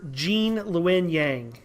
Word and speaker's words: Gene Luen Yang: believe he's working on avatar last airbender writer jean luen yang hi guys thank you thank you for having